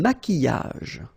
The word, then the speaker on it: maquillage: Un maquillage. Okay, so here, same rule. QU, but then U is not pronounced. So, qui, and then y.